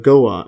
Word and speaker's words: Goa: Or I think it's pronounced Goa, India.